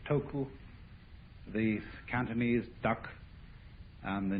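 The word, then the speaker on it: 德: of this word death the japanese pronounce it toku these cantonese duck and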